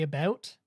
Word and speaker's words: about: The vast majority of Canadians say about. That's just how it's said here. There's like a bit of a U noise. You pronounce the U that in like American vernaculars, you might not pronounce the U much, but it's not a boot.